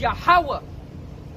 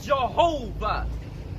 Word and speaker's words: YAHAWAH: The letter Y is not the same pronunciation as English. It's Yah.